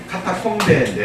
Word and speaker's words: 카타콤: 카타콤베인데 원래 카타콤베인데 영어식의 발음으로 그냥 카타콤 그러잖아요. 근데 그 카타콤이 어떻게 생겼냐면 잘 안 보이시죠? 이게 이제 카타콤의 한 통로예요.